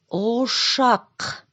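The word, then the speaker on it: ошақ: Чтобы правильно произнести слово «ушак», Сначала свернем губы в трубочку и тянем вперед, а язычок назад. О, о, о. А теперь достаем рыбную косточку из горлышка. К, к, к.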